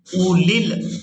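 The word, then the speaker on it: أولي: यहाँ पर जो आप लोग वाव देख रहे हैं ये भी साइलेंट ही रहेगी, और इसके बाद जो या है ये भी साइलेंट ही रहेगी। इसको भी अदा नहीं करेंगे।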